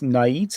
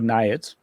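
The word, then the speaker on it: Naiads: So yeah, this is an interesting one now because nits are their own or niads. Niads. Yeah, niads. Sorry. You know, usual mantic universe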